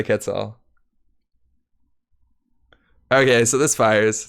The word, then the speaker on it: Quetzal: That's the proper way to say Quetzal.